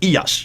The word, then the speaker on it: Iyas: Now, it could be Ilyas or Iyas. Both are correct, because I don't want people yelling all over me, oh, you can misspell it.